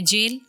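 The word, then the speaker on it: gaol: Spelling है जी ए ओ एल बोला जा रहा है जेल।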